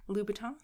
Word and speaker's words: Louboutin: $900 shoes sorry what lubaton with a B yeah lubon louton yeah louton how do you spell that like they spell it's not Louis vuon oh no no no Louis Lon is something different lubaton Christian lubaton oh